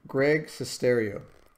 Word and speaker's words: Greg Sestero: I can't pronounce his name. What is it? Get it right here. Greg Sestero.